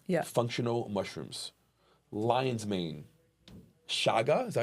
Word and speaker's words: Chaga: Chaga, is that how you say it? That's right. Chaga.